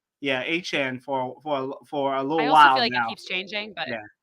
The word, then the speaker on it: Achane: of hurt because Devin Achane wasn't there, or Achane. How I know that he's we've been mispronouncing it apparently. I think is what the people are saying. Yeah, I think it's Achane. Yeah, Achane for a little while now.